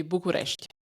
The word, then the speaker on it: București: I would pronounce it in Romania. It would be București.